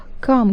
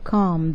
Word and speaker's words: calm: Calm girls, it is an adjective, it means هادئ أو ساكن. Pay attention to the pronunciation calm. The letter L is silent, calm.